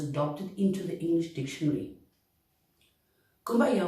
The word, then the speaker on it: Kumbaya: Kumbaya was in fact the way the Gula Geechee with a Creole accent pronounced come by here.